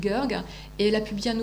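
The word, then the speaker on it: Goerg: Odile Gerg, alors ça s'écrit G-O-E-R-G, Odile Gerg, et elle a publié un ouvrage qui s'appelle Fantomas sous les tropiques.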